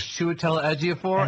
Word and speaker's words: Chiwetel Ejiofor: name was pronounced, but in my head it was Chiwetel Ejiofor, and it turns out right.